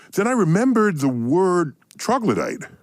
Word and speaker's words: troglodyte: So then I remembered the word troglodyte.